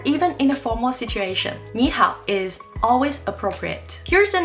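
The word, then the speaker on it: 你好: is because in Ming when two third tone syllables come together the first one changes to the second tone this makes it easier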